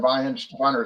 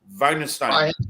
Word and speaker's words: Weihenstephaner: Now, John, what is the ABV on that Weihenstephaner? It's 5.8, right? Correct. I just remember Okay, that. say it again. I'm sorry. I'm going to try to pronounce it correctly. Weihenstein.